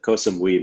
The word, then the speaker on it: Koh Samui: I said Koh Samui, maybe I'm saying it wrong, but No, that's right.